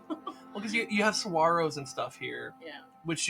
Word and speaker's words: saguaro: like a saguaro yeah so it would be spelled like saguero if you wanted to like pronounce it like you're all just typing i don't know what it is that's how it's spelled but it's aguaro yeah but it's a uh it's a spanish word so yeah saguaro i